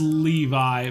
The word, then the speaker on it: Levy: that's basically it's a it's pronounced levi but spelled levy okay good deal lone